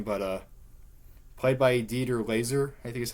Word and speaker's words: Dieter Laser: I forgot his name, but played by Dieter Laser, I think is how you say his name.